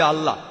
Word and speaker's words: আল্লাহ: একমত উচ্চারণের কিছুটা পার্থক্য তারা বলে আলা আমরা বলি আল্লাহ উচ্চারণ কিছুটা আলাদা তবে শব্দ দুটো একই